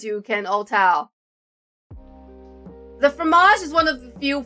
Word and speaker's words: fromage: How to pronounce fromage? Fromage.